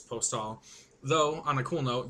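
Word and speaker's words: Aéropostale: Yes, I know it's not Aeropostale. The company wants us to say it correctly, which is Postal.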